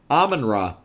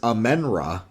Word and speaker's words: Amon-Ra: Oh, Amon-Ra. Okay, I always pronounced it in my head as Amen-Ra.